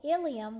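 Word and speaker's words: ileum: pronounced hemophilia or hemophilia some terms that are spelled differently are pronounced the same for example iliam which means hipbone is pronounced the same as ilium which means the small intestine so you have to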